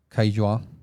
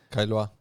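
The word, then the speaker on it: Caillois: Eh, rápidamente, el primero es la una taxonomía de Kaila. Kailoa, Kailo, ya después de que vi un video de cómo pronunciarlo, del 62, eh, que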